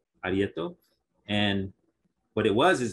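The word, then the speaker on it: areíto: they had this ceremony it's spelled a-r-e-i-t-o or t a-r-e-y-t-o arietto and what it was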